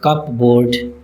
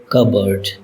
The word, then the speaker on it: cupboard: Almost all people would mispronounce it as cupboard but its correct pronunciation is cupboard. Cupboard. P is not pronounced in this word.